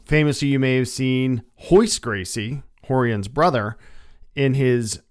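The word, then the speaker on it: Royce: career Journey Etc is the RS are pronounced like H's so horon is actually R Hixon is actually r i k hoist is actually Ro IC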